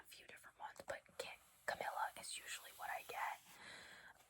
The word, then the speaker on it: Camila: Um, Camila is my real name. That's how you say it, by the way. Um, I know a lot of people especially um in Canada at least from what I've seen they say Camila I've gotten Camile Camilio I don't Camille